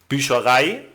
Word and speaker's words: Bücherei: But as always, there are exceptions where the first syllable is not stressed, as in studieren, Bücherei, Information.